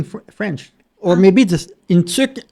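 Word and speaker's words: tuque: Or maybe this in tuk in French is t u q u e.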